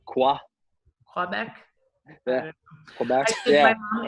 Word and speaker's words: Quebec: You said Quebec? Is that how you say it? Quebec, however you want to say it. Quebec. Yeah. Well, I think we say it a little bit more Quebec.